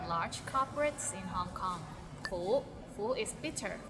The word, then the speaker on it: 苦: 苦 is bitter. Maybe it's the second tone that's hard to pronounce. Like 苦. It's kind of like when you ask, is the parking lot full?